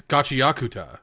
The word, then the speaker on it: Gachiakuta: It's gachiakuta. I suppose you could say it that way, but if I